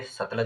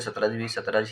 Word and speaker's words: सतलुज: वैसे तो इसका नाम सतलुज है लेकिन इसे सतलज ही कहा जाता है। बहुत सारे मैंने देखे हैं जो जो इसका जो उच्चारण है वो सतलज ही करते हैं, लेकिन जो इसका वास्तविक जो उच्चारण है, सही जो उच्चारण है वो है सतलज नदी, ठीक है।